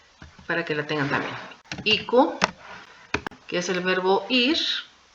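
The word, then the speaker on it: 行く: Entonces, en el caso de iku, recordemos que tiene dos pronunciaciones. Iku y también yuku. Entonces, las dos se van a pronunciar ite.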